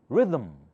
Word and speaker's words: rhythm: How do you say this? Rhythm, thumb. Here it sounds like there's some schwa sound here, although there's no vowel letter.